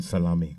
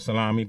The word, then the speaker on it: Salami: Lekon Salami. All right, so it's spelled salami, but it's not salami, it's actually salami.